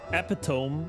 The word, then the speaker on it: epitome: Epitome is pronounced epitome.